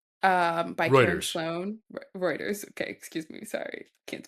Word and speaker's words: Reuters: Um, I found this article on Ruters um by Sloan Reuters.